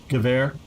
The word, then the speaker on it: Gewehr: Gewehr. What did you say? Gewehr. Gewehr. Yeah. Yeah, for Machine German gun. Gewehr.